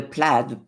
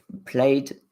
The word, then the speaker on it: plaid: and horizontals so the The Plaid played uh plaid I don't depending on where you are you pronounce it different Tartan um tissue EOS